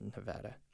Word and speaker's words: Nevada: I signed up to be an Instacart driver when I was living in Nevada. Just kidding. It's pronounced Nevada.